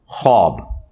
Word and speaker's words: ख्वाब: खबरे का 46वां हिस्सा यह ख्वाब नहीं पढ़ा जाता वैसे उर्दू में चल भी जाता है लेकिन यह लफ्ज़ है ख्वाब तो वह उसमें फिर साइलेंट हो जाति है तो यह जो खबरें